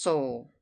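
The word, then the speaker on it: Seoul: place asked Mr hemster it is spelled s e o u l and is pronounced Soul how far is it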